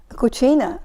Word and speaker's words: cucina: Cucina.